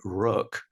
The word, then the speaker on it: rök: But my umlauts are absolutely correct, because the word rök comes from an Icelandic word meaning destiny, and flöte is the German spelling and pronunciation of the instrument I play.